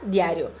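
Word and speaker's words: diario: se pronuncia diário diário você faz o de com igual são de idade mas a ênfase vai ficar no a você não vai falar assim ó diário você vai falar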